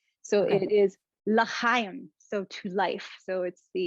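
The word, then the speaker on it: לחיים: Shani, I'm going to say it, but you have to correct me if I get the pronunciation. So okay. It is l'chaim, so to life.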